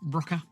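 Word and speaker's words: Rokr: This is a wooden kit from Rocker. I assume it's pronounced Rocker. It's R-O-K-R.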